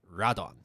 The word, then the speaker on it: Radon: The data entries for the series writes it as Rodan, Rodan. However, in the anime, they pronounce it as Radon. Oh. It really annoyed me a lot throughout the whole season. But anyways, I'm just going to call them Radon because that's how they pronounce it, even though that's not how it's spelt.